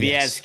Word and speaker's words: Viescas: I'm saying Viescas. Yes. You crushed it. Sebastian Viescas.